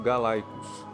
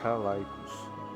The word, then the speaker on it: Calaicos: Essa tribo se chamava Calaicos, citados às vezes como Galaicos, porque o latim originalmente usava a letra C para expressar o som K e G. A pronúncia correta, no entanto, é Calaicos, já que os gregos também os conheciam e os chamavam de Kalaikoi.